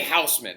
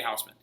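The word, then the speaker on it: Haussmann: along named baron george i can't say his name in german baron de houseman okay everybody calls him baron day houseman baron day houseman is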